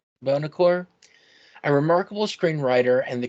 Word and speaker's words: Buonocore: Our guest today is none other than I'm sorry, how do you pronounce that name? That's okay, Matthew. It's Bonaccorsi. Bonaccorsi?